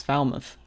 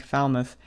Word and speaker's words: Falmouth: And I'm going to pronounce this town as we do in Pennsylvania, which is Falmouth. Okay. Okay. I think it's Falmouth here, isn't it?